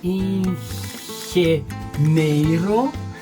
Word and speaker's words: ingeniero: Ingeniero, ingeniero. Me suena como, it sounds like Rio de Janeiro, but it's not Rio de Janeiro.